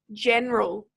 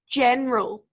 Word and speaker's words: general: print out this word we actually only say two syllables so this word is pronounced just general which syllable do we think we emphasize there general yes it's the first